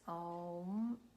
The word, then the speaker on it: Om: So it consists only of 3 syllables. Om.